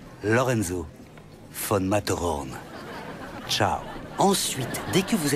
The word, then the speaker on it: Lorenzo von Matterhorn: Ça s'écrit comme ça se prononce, 2 T. Lorenzo von Matterhorn.